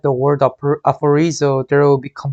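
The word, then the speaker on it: ἀφορίζω: aphorizo, 아포리조. aphorizo, F 발음, R 발음, Z 발음이 나죠.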